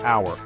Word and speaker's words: hour: we say a university another tricky one is the word hour it starts with h a consonant but it sounds like it starts with a vowel similarly hour sounds like